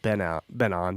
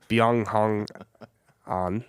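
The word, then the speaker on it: Byeong Hun An: It's not just Ben On. That's his American name. It's Byung Hong On.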